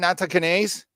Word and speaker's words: Nattokinase: Nattokinase?